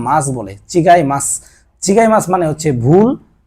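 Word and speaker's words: 違います: মাছ জাপানে মাছটা তেমন ব্যবহার না মাছ বলে চিগাই মাছ চিগাই মাছ মানে হচ্ছে ভুল অন্য জিনিস বা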